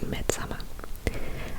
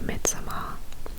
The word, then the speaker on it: Midsommar: Then I watched Midsommar, which obviously initially I was pronouncing Midsommar. And then I heard the director say Midsommar because I guess that's how they would pronounce it in Sweden.